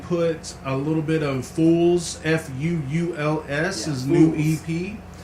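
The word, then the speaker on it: Fuuls: It sounds like Fools.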